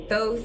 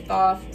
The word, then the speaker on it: Thoth: I'm mainly using this because energies that I will be working with is Thoth or Thoth, however you want to pronounce it. Some people say Thoth, some people say Thoth.